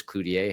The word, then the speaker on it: Cloutier: this topic came up AMA with Cludier has a nice rhyme to it too if I say it that way and that's the right way to pronounce the name isn't it yes yes I always say clue as in get a clue and then TN a clue ta and you never go wrong with it Yeah.